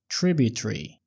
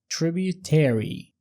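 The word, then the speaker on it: tributary: ورا الكائن ده كده ولو ملاحظ انها قالت تريبيتري وده نطق البريطاني انما النقطه الامريكي بيقولوها تريبيوتيري تريبي المقطع الاخير ده ايري ايري الامريكان دايما بيطولوا فيه ايري زي مثلا ميليتيري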